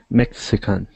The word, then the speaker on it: Mexican: thing was mexican so the letter x in english is different than spanish in english we pronounce it like this so it says mech mexican perfect yes many english learners want to say a mess again but you have to get the in there to have it correct nice job so let